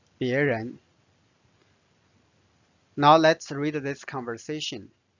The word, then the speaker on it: 别人: 别人人 second tone 别人。